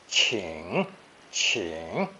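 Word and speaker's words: 请: alongside the qing phonetic together pronounced third tone ching ching the original sense was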